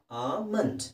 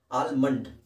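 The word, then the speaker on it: almond: ಆಮಂಡ್. ಎಲ್ ತೆಗೆದಾಕ್ಬಿಡಿ. ಆ ಇದೆ, ಆ ಮಂಡ್ ಇದೆ. ಆಲ್ಮಂಡ್ ಅಂತ ಹೇಳೋದಕ್ಕಿಂತ ಆಮಂಡ್.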